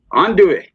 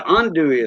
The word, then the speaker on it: andouille: Yeah, I want some actual boudin and andouille. I think that's how you pronounce it. Andouille.